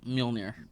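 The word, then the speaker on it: Mjölnir: a loft uh how do you say that's mjolnir yeah that mjolnir um he had mjolnir and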